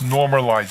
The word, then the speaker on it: Normalyze: And just for the audience, that's normalize. It's spelled NORMALYZE. It's normalize.ai, you said?